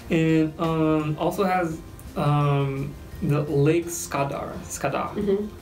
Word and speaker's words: Skadar: And also has the Lake Skadar. How do you say it? Skadar, but we actually call it Skadarsko jezero.